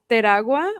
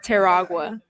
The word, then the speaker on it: Teragua: Teragua, or like in English, if you don't want That's to not like getting roll your it. R's, Teragua.